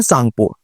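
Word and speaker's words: Tsangpo: पर इसे चाइना में या तिब्बत वाले एरिया में बोलते हैं सांगपुर। टी साइलेंट होता है।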